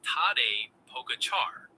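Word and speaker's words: Tadej Pogačar: Char sounds like char like charred food.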